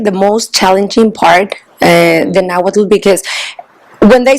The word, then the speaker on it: Nahuatl: It's spelled Nahuatl, UATL. but you don't say the L. The T works as a break, so it's Nahuatl.